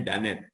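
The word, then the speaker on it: Dunnett: DANET mungkin dimasukkan di sini, dimasukkan di Bonferroni CP ini, uji tulisannya DUNET tulisannya, ya, bacanya DANET.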